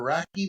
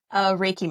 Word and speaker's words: Reiki: Reiki or Raki master? How do you say it? Reiki master.